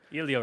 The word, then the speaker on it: Elio: Also, Bengal said also, Elliot Ramos is not a Greek god. It's pronounced Elliot James, you dunce. Elio Ramos.